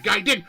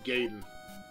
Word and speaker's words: Gaiden: Like we're play they're playing Ninja Gaiden. Hi. They at least I said it right. A lot of people say Gaden. It would have to be ei.